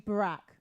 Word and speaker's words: Barack: blue King strangers name though how do you pronounce it again oh right oh boy it's actually Barack Barack Obama oh do you know him is